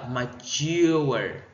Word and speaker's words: mature: Câu A nó sẽ nhấn âm 2 nha các bạn. Mình sẽ đọc là mature. Mature. Chứ mình phải đọc là mature nha các bạn. Không phải đọc là mature nha. Không nhấn âm 1 là sai. Âm 1 là âm sai.